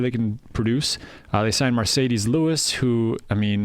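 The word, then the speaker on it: Marcedes: They signed Mercedes Lewis, who, I mean, his first name is pronounced like a sports car, so you'd think he'd be good.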